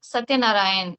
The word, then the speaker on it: Satyanarayan: So yes, very good evening, Satyanarayan. Am I pronouncing right?